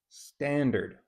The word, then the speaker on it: standard: Standard. Where's the Where's the strong vowel? Stand. Right. Standard.